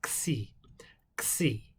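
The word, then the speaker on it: ξ: as a ch but a c in greek is a like a k and then you add a little more air from the back over the back of your tongue and then and then and finish it out with a s sound so xi xi so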